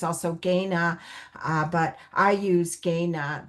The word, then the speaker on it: Kainai: There's Kainai, there's also Gaina, but I use Gaina. That is the traditional way we pronounce our nation.